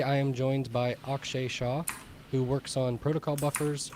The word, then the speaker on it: Shah: get going um Akshay is it Shaw is that your last name yeah you got it okay just got to